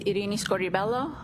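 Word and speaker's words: Irini Scordi-Bello: I was My name is Arini Scorelloo. That's spelled I R I N I S C O R D I B E L L O.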